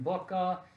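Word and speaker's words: Bucher: We saw in 2018 Susan Booker.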